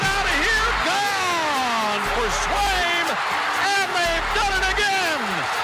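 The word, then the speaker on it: Sveum: Swaim is S-V-E-U-E-M. That's how you say it.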